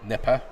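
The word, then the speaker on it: Gnipper: uh Nasha yeah um nippa nippa spelled with a GN yes not nippa that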